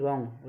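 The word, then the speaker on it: wrong: भी डब्ल्यू आ जाए उसमें क्या है, डब्ल्यू साइलेंट होता है आर से पहले। जैसे पूरा एग्जाम्पल लिखिए, मैं सुन WR1 रॉन्ग, यानी कि आर से पहले डब्ल्यू आ गया तो इसमें क्या होगा, डब्ल्यू साइलेंट होगा।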